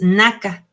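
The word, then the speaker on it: נכה: Y ese término herida viene de una palabra hebrea que es naka, bueno, Naka sería, porque es con acento en la segunda A y con K, y significa golpeado, arruinado, destruido, vencido.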